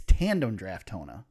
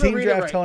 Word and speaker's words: Tandem Draftona: It's Tandem Draftona. Tandem Draftona. Thank you. Tandem. You've been calling them Team Draftona right.